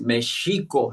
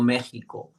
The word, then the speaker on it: México: También empezarnos a a hacer costumbre de pronunciar bien el nombre de nuestro país, que es Mexico, ¿no? México, eso es otra castellinizzación. Mexico, mexico que significa e